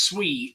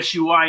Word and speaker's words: Sui: you that don't know I found out that the proper way to pronounce sui is swe swe is how it's